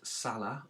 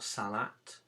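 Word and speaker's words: صلاة: We're going to continue looking at Salah or Salat, depending on how you pronounce it.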